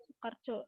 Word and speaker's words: Soekarjo: Bacanya Su ya. Kalau OE kayak gitu ya. Soekarjo. Ejaan lama.